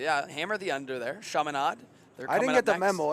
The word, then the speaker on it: Chaminade: Chaminade. I was getting the lay of the land on how to pronounce them last night.